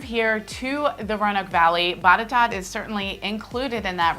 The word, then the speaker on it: Botetourt: It's spelled very different than it sounds.